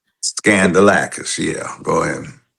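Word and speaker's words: Skandalakis: Think scandal when you pronounce it. Okay. Scandalis. Scandalacis. Scandalacis.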